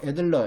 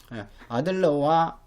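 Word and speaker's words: Adler: 성평등 가설을 그 대표하는 학자가 자유주의적 페미니즘에 속하는 학자인 아들러라고도 하고 애들러 이렇게 발음하기도 하죠. 아들러와 사이먼이다 하는 거.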